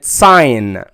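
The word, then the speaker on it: sign: يجي بعدها الجي ان وحرف الجي هنا ما ينطق ولكنه ايه موجود زي كلمه ساين ريين ريين ريين ديزاين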